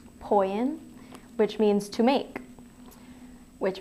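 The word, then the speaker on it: ποιεῖν: it's a Greek word I want to say it's poian p o i e i n poian which means to make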